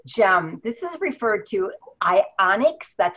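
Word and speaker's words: Ionix: health goals this gem this is referred to I onyx that's how you pronounce it I onyx supreme and once you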